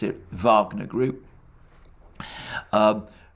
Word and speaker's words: Wagner: the way pronounce it wagner group um pronouncing the w as a v as in the composer richard wagner but of course russians